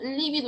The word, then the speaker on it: lívido: Pero si se escribe con V, se tildará porque es una esdrújula, lívido, y significan cosas totalmente distintas.